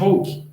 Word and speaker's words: Hooke: Então, Robert Hooke, né, ou Hooke, em alguns lugares vocês vão escutar essa pronúncia, em análise de cortiça, ele deu nome às células.